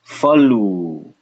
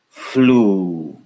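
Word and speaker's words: फ्लू: This would be pronounced falu, falu. But now we ching, get rid of the and suddenly we can say flu, flu.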